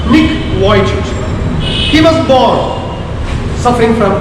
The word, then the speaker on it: Nick Vujicic: A famous person, Nick Vujicic, usually people say Nick Vujicic or something, actually it is to be pronounced Nick Vujicic.